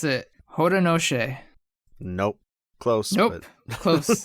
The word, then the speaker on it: Haudenosaunee: Yes, because I found out how to pronounce it. Haudenosaunee.